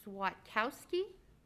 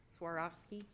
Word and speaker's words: Swarovski: deborah smith okay swatkowski uh swarovski i'm sorry so it's an r not a t swarovski yeah when you're wouldn't